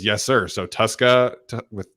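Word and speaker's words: Tuszka: T22 says it's pronounced Tuska, like a Tuscan Raider without the N.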